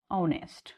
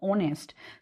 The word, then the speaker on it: honest: Now, there is a word honest. So when we are pronouncing honest, so sound is of o, that is of vowel.